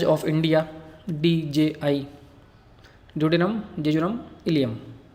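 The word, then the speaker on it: ileum: और third part है इलियम। Spelling से कंफ्यूज मत होना, ये कैपिटल आई और स्मॉल एल है और EUM, इलियम। ड्यूडेनम, जेजुनम और इलियम, इसको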